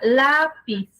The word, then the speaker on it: lápiz: Entonces, por ejemplo, yo les pongo siempre el caso de la palabra lápiz. Su sílaba tónica es la y se acentúa las